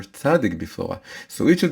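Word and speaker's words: צדיק: You take the letter tzadik, and you pronounce the name of the letter. The name of the letter is tzadik. Sometimes it's called tzadi, sometimes it's called tzadik.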